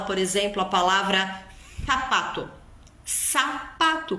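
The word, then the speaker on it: zapato: exemplo a palavra sapato sapato que escreve com Z em espanhol tem som de s Celo Celo céu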